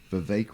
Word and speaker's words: Vivek: Vivek rhymes with I think cake.